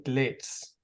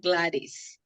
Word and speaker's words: Gladys: so next we have Glitz or Gladys please correct me if I'm pronouncing your name wrong thank you it's Gladys okay would you like